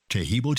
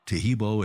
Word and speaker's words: Taheebo: I quit taking that and you know so teibo club's original pure piaco super tea helps build